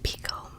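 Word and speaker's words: Picoult: my sister's keeper by Jody ble or jod Pico is how it's actually pronounced according to jod Pico on Tik Tok recently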